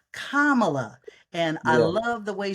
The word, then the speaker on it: Kamala: I've been going around teaching the other side how to pronounce her name they call her camela they call her all kinds of names but her name is kamela and I love the